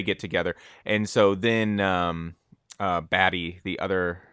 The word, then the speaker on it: Batty: item was baddie Roy batty that's what they were seeing I thought it was a tea but it's spelled be a TTY and I think someone